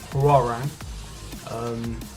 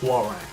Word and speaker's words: Hwoarang: So we're tackling Hwoarang, because I saw some of the votes on the previous videos.